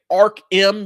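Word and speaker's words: Ark M: And I'm saying Ark-M because that's how it's spelled. A-R-K-M. Ark-M. I know I say Arkham Asylum, but this is not Arkham Asylum. This is Ark-M.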